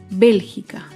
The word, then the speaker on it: Bélgica: Otro ejemplo es la palabra Bélgica. Bélgica se acentúa en la antepenúltima sílaba.